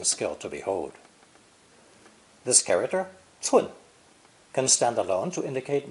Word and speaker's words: 寸: It's pronounced 寸, 寸.